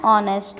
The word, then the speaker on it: honest: Then moving on to the next letter, that is dash honest woman, dash honest woman. The H is consonant here, O is vowel. So H is silent.